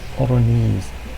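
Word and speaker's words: Oranje: you like her accent it sounds oron oron J is silent her birth marks also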